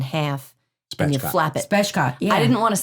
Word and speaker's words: spatchcock: Spatchcock.